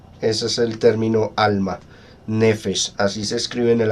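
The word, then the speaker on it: נֶפֶשׁ: La palabra alma en el idioma hebreo, en el Antiguo Testamento, se dice nefesh. Ese es el término alma, nefesh. Así se escribe en el Antiguo Testamento y a nuestro idioma se traduce como alma.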